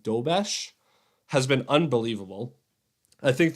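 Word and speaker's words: Dobeš: Their new goalie, I believe his name is pronounced Dobesh, has been unbelievable.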